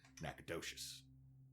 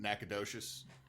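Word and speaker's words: Nacogdoches: The problem is is there's Nacadesh Louisiana and Nacadocious Texas and they're not spelled the same but they sound similar.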